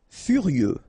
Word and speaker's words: furieux: Furieux. Okay, final X not pronounced.